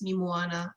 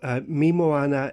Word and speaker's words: Mi Moana: you know people know me moana is is spelt pretty much as it sounds m i me moana m-o-a-n-a so they can find